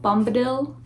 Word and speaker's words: Bombadil: why i get to the tom bob bombadil bombadil that's how you say it and i'm on